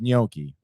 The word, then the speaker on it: gnocchi: wrong wait so say one more time it's gnocchi gnocchi young monkey yonki yunki yonki that i